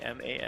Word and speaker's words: Aman: The guy's name is Aman. Yeah, I say Zaman, but that's probably wrong.